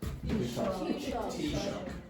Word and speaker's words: Taoiseach: Okay, is the Taoiseach. So, like, think about cup of tea and shock. Okay, that's the pronunciation of that. So the Taoiseach stated that.